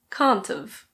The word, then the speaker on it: can't've: Cannot have becomes can't've. Can't've.